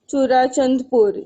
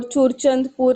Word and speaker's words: Churachandpur: Sorry, in Manipur we have this place called Churachandpur. Yeah, or Churchandpur is also correct pronunciation.